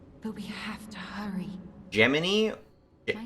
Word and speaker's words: Gemini: it hearing it pronounced Jiminy it's spelled Gemini and then they say it's geminy I wish I wasn't